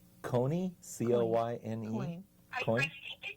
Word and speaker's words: Coyne: Jerry, I think it's Coyne, C-O-Y-N-E. Coyne. I think they pronounce it Coyne.